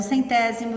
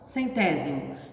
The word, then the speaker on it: centésimo: Lembrando que a palavra décimo se escreve com C, centésimo e milésimo é com S, que faz o som de Z, né? Mas é S.